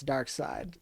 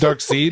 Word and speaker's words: Darkseid: Yeah, 66% of us can pronounce Dark Side. So Yeah. I'm doing the alternate dimension pronunciation, just like Bloodhaven instead of Bloodhaven. Come on now. oh, okay, where Dark Side isn't real and mispronounced. Dark Seed. Mhm. Dark Dark Seed.